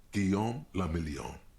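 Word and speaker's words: Guillaume Le Million: meant only one thing guillaume lamillion if it doesn't rhyme you're not pronouncing it right oh out of the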